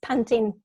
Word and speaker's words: Pantin: to two other families i do pronounce pontan the french way but it's panting in english and the french the english pronunciation um so these three